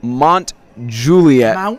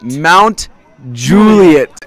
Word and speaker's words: Mount Juliet: Suey field not in excuse me Mont Julia Mount Juliet all of us have